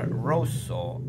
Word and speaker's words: rosso: la parola the word rosso Red si pronuncia con la o chiusa o chiusa Close così